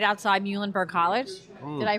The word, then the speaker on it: Muhlenberg: for those of you not familiar right outside muhlenberg college did i pronounce that right yeah yep muhlenberg college yeah very everything's popular with the students